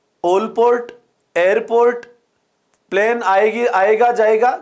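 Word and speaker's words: Allport: वैसे इसका सही प्रोनाउंसिएशन ओलपोर्ट है ना।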